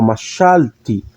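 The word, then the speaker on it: מָשַׁלְתִּי: Aqui não, aqui ó, machalti, machalti. Eu pronuncio o hirik e yud, ok?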